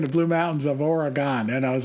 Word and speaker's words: Oregon: is worse than fingernails on a chalkboard it's pronounced Oregon not Oregon or Aragon or air gun I hope that makes sense and thanks for